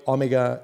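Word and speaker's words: O-Mega: special new steel alloy omega is using o mega steel i have to pronounce it that way because they write it o dash mega steel is notable for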